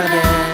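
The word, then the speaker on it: DARE: ดี a r อี อ่าน ว่า แด แปล ว่า กล้า พวก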